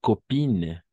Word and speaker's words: copine: Se escriben A-I-N, ¿no? Pero gracias a causa de esa E al final, tiene un efecto retroactivo, si vale el término, y va a hacer que pronunciemos como in, ¿no? Y el otro on, ¿sí?